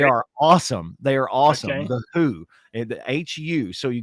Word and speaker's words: The Hu: them and Keith Moon it's not w-h-o it's a band called the h u it's pronounced The Who and they are a